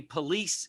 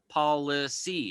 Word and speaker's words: police: to that authority now the word police is actually supposed to be pronounced policy now i've showed that